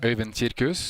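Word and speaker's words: Øyvind Kirkhus: Can you give us the proper pronunciation? Øyvind Kirkus.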